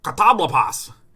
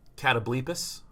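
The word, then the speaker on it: Catoblepas: I would pick either Fateful End or the Blight Breath Katablopos. I'm pretty sure this is pronounced Catablepus or Catablepus, but Katablopos is just way too fucking funny, man.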